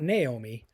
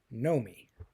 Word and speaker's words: Nomi: she says know me not Naomi know me and this is important because names in movies not all the time but names can be very symbolic and know me is an unusual name and phonetically it's know me k n o w